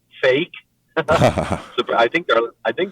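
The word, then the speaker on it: PHEIC: emergency of international concern phic pronounced fake.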